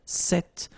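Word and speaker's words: cette: it's quite interesting because if you listen carefully the masculine form here set and the feminine form here set you write them differently but then you pronounce them the same way all right for the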